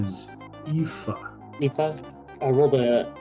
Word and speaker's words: Aoife: Okay, so according to Google, the pronunciation of the name is Aoife.